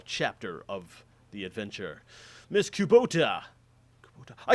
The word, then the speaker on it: Kubota: Kubota.